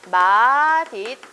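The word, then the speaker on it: 맛있다: 입다 하고 그 다음에 연음 되니까 마디 딱 이렇게 발음을 해야 된거죠 근데 나도 맛잇다 라고 발음 하거든요 되게 많은 사람들이 마싸 라고 발음해 많이 그렇게 발음을 하면 뭐 해 줘요 허용 해서요 그래서 마싸 도 허용 이에요 근데 이거는 풍 사랑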